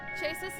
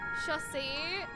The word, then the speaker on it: chassis: The mechanism which allowed me to perform an emergency chassis is pronounced chassis.